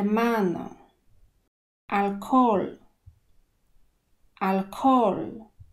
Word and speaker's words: alcohol: no r ma na alkohol alkohol tutaj ha jest niemy i jeszcze zanika nam o alkohol alkohol oto fragment